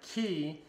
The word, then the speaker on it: Qi: the Nokia phones that have key and that's Qi is how you spell that have the key